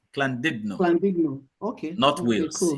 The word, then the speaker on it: Llandudno: It's a Welsh word. It's actually, if you pronounce it in English, you say Landuno, but as a Welsh word, it's called Llandudno. Llandudno.